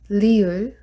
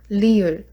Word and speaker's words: 리을: And next one is 리을. So this one is sounds like L, but it's not R. It's very flat sound. We don't have like R sound, so it's really 리을.